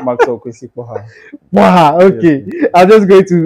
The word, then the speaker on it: Kporxah: So it's an X, but it's pronounced like an H. Oh, So it's okay. Kporxah, yeah.